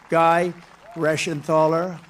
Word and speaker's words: Reschenthaler: Guy Reschenthaler. That's the hardest name in the Senate to pronounce, but I've learned how to pronounce it.